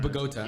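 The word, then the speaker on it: Bogotá: it right i'm sorry is that the correct pronunciation that's actually the correct bogota right um so he's from bogota and he was also there visiting um but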